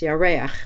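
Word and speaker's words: יָרֵחַ: It's pronounced Yareach when it's the moon.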